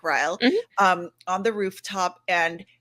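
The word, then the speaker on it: Ryle: um the two characters Lily and Riley right that's the way you pronounce it like Riley um on the rooftop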